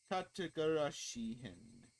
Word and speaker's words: Tatarigoroshi: How do you pronounce it? Tatarigoroshi.